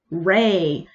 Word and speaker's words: REI: It's not REI, as in REI from the recent Star Wars trilogy, or a ray of sunshine. Oh, no, no, no. Admittedly, it's my mom, who I've mostly heard this from. But anyway, just spell it out. This is the way. R-E-I. Say it with me.